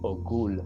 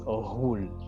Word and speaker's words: Ohul: So if you read it, you might say Ogul, but it's not a G, it's Ohul with like a GH. It's almost like a rolling R.